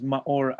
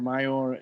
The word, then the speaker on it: Maor: on the show uh my name is ma or a lot of times you see people will pronounce mayo or mayor it's common so i'm